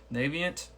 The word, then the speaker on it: Navient: okay this is about is pronounced naviant I pronounce correctly to payback student loan